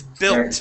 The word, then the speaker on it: built: sound bell okay belt this word is built and when we say that when someone is well built that means that they are strong okay so this is bill with a short i sound okay repeat that built